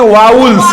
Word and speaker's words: vowels: इसका अगर सही उच्चारण अगर देखा जाए तो इसको हम लोग कहते हैं वाउल्स।